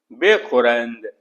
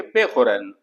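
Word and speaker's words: بخورند: अगर किसी वर्ड के अंदर दो सेमी साइलेंट अल्फाबेट एक साथ आते हैं तो जो सबसे लास्ट का अल्फाबेट है उसे आप रीड कर दें जैसे बेखुरंद तो इसमें देखिए नून और दाल को हम पूरी तरह से प्रोनाउंस नहीं कर रहे तो इसलिए दाल को इसमें से ड्रॉप कर दिए तो कहेंगे बेखुरन इस तरह से हस्तनंद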